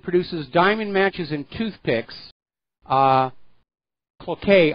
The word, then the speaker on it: Cloquet: Now, apparently the factory that produces diamond matches and toothpicks, Cloquet, I think it's pronounced, is going to close.